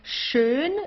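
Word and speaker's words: schön: Here you have an S ch. It's pronounced exactly the same way as the sh in in English. Okay. Like to shine or so. So, it's shun.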